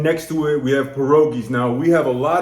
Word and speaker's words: pierogi: good and then next to it we have parois now we have a lot of parois here and peris really it's pronounced perogi are usually um boiled okay but so that's